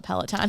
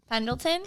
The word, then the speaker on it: Pendleton: It's I'm gonna say the name wrong because I always call it a Peloton and it's not. Cicadas. the Pendleton, There you go.